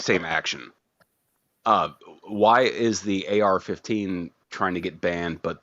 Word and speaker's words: AR-15: I'm just glad that we are both able to enlighten Billy that it's pronounced AR-15 and not just R-15.